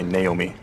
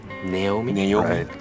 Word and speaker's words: Naomi: Um, a famous one is probably Naomi, right? In America, America, most people would probably say Naomi. Naomi, Naomi. Okay. So, Naomi and Naomi, most Japanese or um people in Kushima Productions probably just pronounce it Naomi. Mhm. uh which is a very Japanese way of saying uh others